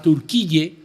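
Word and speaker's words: Türkiye: fortuna no por ejemplo Turquía que en inglés se escribe Turkey decidió cambiar su nombre a turqui con k i y y e para diferenciarse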